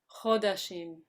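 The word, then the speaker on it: חֳדָשִׁים: One pronunciation note, Chodashim. Chodashim. When we Okay. have the Right. With off it. kamats, it's shortened.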